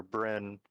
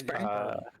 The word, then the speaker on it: Burn: so way and his Dr burn or Brin I keep saying it wrong no it's burn it is burn it is burn all